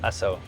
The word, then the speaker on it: Asoke: They pronounce it Asoke.